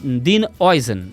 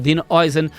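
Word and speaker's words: Dean Huijsen: do Manchester United, e Don Dean Oisen. E é assim que se pronuncia, apesar de parecer que não é assim que se pronuncia.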